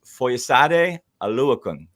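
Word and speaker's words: Foyesade Oluokun: His name is Foyesade Aluakun.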